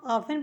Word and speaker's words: often: OFTEN इसको हम ऑफन पढ़ेंगे। देखिए टी साइलेंट रहेगा।